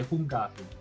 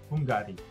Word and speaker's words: Hungary: And because I don't really know how it is pronounced, I pronounce it how I read it. That's how Malay language is. So I say Hungari. Hungari. Hungari.